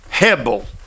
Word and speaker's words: hebel: let's talk about the word vanity initially um Hebel let me spell it h-e-b-e-l Hebel preacher can you tell me